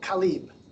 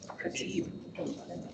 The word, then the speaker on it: Khatib: Khalib. Did I say that right? Did I say it wrong? How do you say it? Khatib.